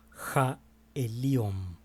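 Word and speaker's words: עליון: está viniendo, el Altísimo, que en hebreo el Altísimo se pronuncia como jaeliom.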